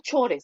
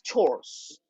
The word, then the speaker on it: chores: La pronunciación no es chores, es chores.